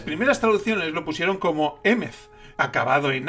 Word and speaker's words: Emeth: Y esa H al final hace que se pronuncie Emeth, y por lo tanto